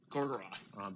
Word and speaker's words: Gorgoroth: Gorgoroth? Gorgoroth. Barad-dûr is the tower that you see in the distance there, that opening shot. But I am so embarrassed. That's in the region of Gorgoroth.